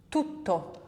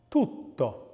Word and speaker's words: tutto: Now, can you hear the difference between the double and the single consonant there? Tutto. The T has the same sound, but it is held for longer in the double version.